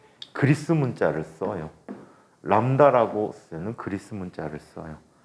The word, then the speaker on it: 람다: 때 그리스 문자를 써요 람다라고 쓰는 그리스 문자를 써요 뭐라고 읽어 이거 뭐라고 했는데 들립자가 아니고 람다 그리스 문자야 람다야 어 한글로 써 줘